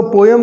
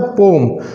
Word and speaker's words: poem: तो दोस्तों, आपने देखा होगा यहाँ पर इस पोयम में कवि ने, इस पोम, एक्चुअली इसका पोयम का प्रोनाउंसिएशन होता है पोम.